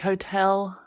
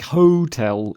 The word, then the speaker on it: hotel: about the mispronounced words where the stress was in the wrong end of the word like Hotel like hotel and deside and report but it's Hotel and decide and Report yes and you wondered